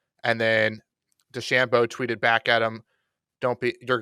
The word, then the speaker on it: DeChambeau: And then Rodgers and Bryson DeChambeau, rhymes with Lambo, perfect match, will be taking on Brady and them.